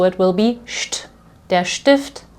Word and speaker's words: Stift: beginning of the syllable, you will pronounce this as st. So here I have der Stift, okay, the pen or pencil,